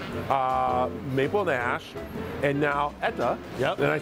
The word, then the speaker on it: Etta: who is behind uh Maple Nash and now ETA yep and I said it right you got